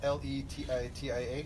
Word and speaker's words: Letitia: It's Letitia.